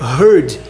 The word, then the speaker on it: heard: no final, só que você não pronuncia nem igual a beard, nem igual a here, nem igual a bear, nem igual a nada. É herd, é totalmente diferente.